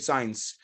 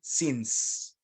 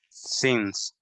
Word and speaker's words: since: one month old okay careful with that one pronunciation of the word sins don't say signs repeat after me since since exactly that's how you pronounce it and actually